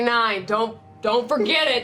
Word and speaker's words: Nein: fucks with the Mighty Nine. You see as like 3 of them are like quietly under their breath. But spelled like N-E-I-N. The Mighty Nine.